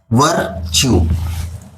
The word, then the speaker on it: virtue: इसका भी प्रोनाउंसिएशन चू निकलता है, जैसे कॉन्ग्रेचुलेट, VIRTUE, वर्च्यू।